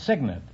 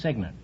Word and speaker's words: signant: guess goad no it's signant it's spelled c y g NE T but it's pronounced signant well you U still